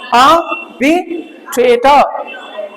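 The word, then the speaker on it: arbitrator: इसको र को र ना पढ़ के अ की आवाज दोगे, आर साइलेंट रहेगी, तो क्या रहेगा? आर्बिट्रेटर। समझ रहे हो ना मेरी बात? क्या बोलेंगे? आर्बिट्रेटर, आर्बिट्रेटर, आर्बिट्रेटर। तो र नहीं पढ़ना, ये भी साइलेंट है और ये भी साइलेंट है।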